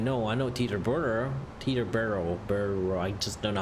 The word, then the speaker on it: Teterboro: are so T turbo so if you don't pronounce er this you know Bo Tito Tito borrow to the Barrow Teterboro you know Tina Barrow just do not roll